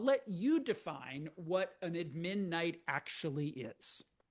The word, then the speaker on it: admin: I'll let you define what an admin night actually is. Admin night. Here in San Francisco, we we emphasize syllable number one.